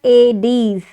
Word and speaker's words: Aedes: Aedes mosquito, you write it as Aedes. Okay, you spell it like AYDECZ, Aedes.